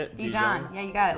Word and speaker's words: Dijon: Dijon mustard is that how you say it Dijon yeah you got it like Deeds that's right